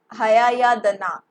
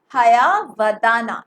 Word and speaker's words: Hayavadana: Next question is, what are the sources of Girish Karnad's Hayayadana? Okay, the pronunciation would be Hayavadana, right? Hayavadana. This is Y.